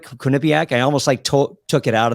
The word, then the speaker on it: Quinnipiac: Quinnipiac? I almost took it out of the bio just because I can't pronounce it. Or Quinnipiac. I think either one is acceptable.